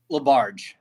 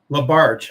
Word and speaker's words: LaBarge: how do you pronounce your last name? LaBarge. LaBarge.